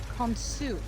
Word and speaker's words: Khonsu: And his name is actually properly Khonsu.